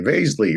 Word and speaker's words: Basley: that last name correctly basley rhymes with Paisley and my whole life people have gotten that wrong basilly actually the old Hungarian ways bash but I'm not going